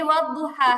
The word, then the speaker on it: والضحى: যেমন এই ওয়াদুহা, হা এর পর একটা ইয়া এর মতো আছে, কিন্তু যেহেতু ইয়াটা খালি, ইয়াটা আমাদের উচ্চারণে আসবে না, পড়ার মধ্যে আসবে না।